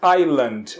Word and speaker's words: island: Então, ilha em inglês nós dizemos island, ok? Então, cuidado. Cuidado com a pronúncia porque nós escrevemos Island, ok? Mas na hora de pronunciar, a gente não pronuncia o S.